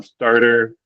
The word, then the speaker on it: starter: Um yeah, and the pronunciation on this one here um starter um that just keep in mind that yeah in American English at least like we don't do like a hard t sound.